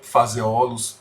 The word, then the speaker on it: Phaseolus: Então, o feijão que nós utilizamos na culinária é o Phaseolus vulgaris, da família Fabaceae. Então, Phaseolus, PH tem som de F.